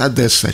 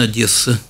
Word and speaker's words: Одесса: горят одесса через твердое как правильно конечно одесса через обычное и но вот очевидно особенности произношения привели к тому жители более северных чего вес областей москвичи и петербуржцы иногда говорили через оборотное это не совсем правильный но все и допустимый вариант я честно говоря слабо